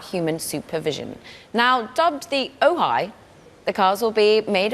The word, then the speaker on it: Ojai: Yeah, Ojai as in the city in SoCal, but also hi.